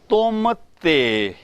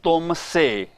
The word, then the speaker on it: tum te: The words are tum te. Te is important because many times I have seen people saying tum se. It is not tum se, tum te.